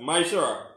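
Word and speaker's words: מעשר: Means tenth in Hebrew and is pronounced as Mishra.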